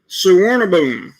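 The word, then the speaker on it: Suvarnabhumi: Suwarnaboom. Cool. That's how you pronounce the airport I'm talking about.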